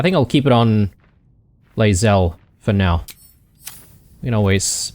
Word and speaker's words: Lae'zel: Sorry, keep mispronouncing it. Lae'zel.